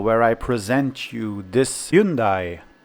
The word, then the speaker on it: Hyundai: I present you this soon die or Hyundai as the Koreans like to pronounce it this is the super